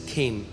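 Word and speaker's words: chen: favour के लिए है वह है केन सी एच ई एन बट it's pronounce S केन और जब मैं इस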